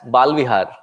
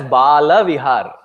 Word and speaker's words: Bala Vihar: And please, while you pronounce what you come here for your children, don't say as Balvihar. Say it as Bala Vihar. There's a huge difference between Bal Vihar and Bala Vihar.